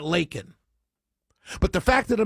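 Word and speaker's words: Laken: Oh, he pronounced it Lincoln. I'm sorry. Let's go off on that for the next 5 days. Because he said Lincoln and not Lakin.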